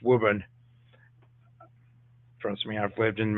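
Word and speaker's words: Woburn: uh factories and wub Mass not it's not wurn it's wubben trust me I've lived in Massachusetts the names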